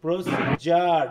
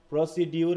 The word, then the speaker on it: procedure: দেখো তো এখানে আদৌ কি ড আছে উচ্চারণ? প্রসিডিউর প্রসিজার, ডিজে হচ্ছে জ, প্রসিজার। হ্যাঁ, আরটা হালকা উচ্চারণ হবে অথবা না করলেও চলে। প্রসিজার, প্রসিডিউর নয়, ঠিক আছে? প্রসিজার। দেখো ডিজেতে জ হয়, তাহলে আমরা যদি একটু,